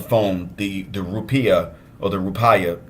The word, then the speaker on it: rupiah: We were converting in our head and on the phone the rupiah or the rupaya. People pronounce it different ways, but they generally pronounce it rupiah.